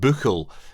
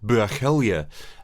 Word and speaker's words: Buachaille: to clear up two common misconceptions calling it buckle is still anglicizing the gallic phonetics it's pronounced more like bergelia and more importantly it doesn't mean great shepherd